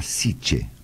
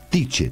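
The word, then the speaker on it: Tyche: diosa llamada fortuna y los griegos creo que llamaba siche si no me equivoco sich como la ciudad de Barcelona Claro que goberna no creo que se escribe tiche tiche Perdón t y C c e tiche tiche es verdad sí e la diosa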